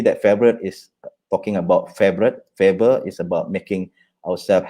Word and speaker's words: Favoriot: So this is a story that we always tell you, but people don't call it Favoriot or Favoriot. You pronounce it as a favorite.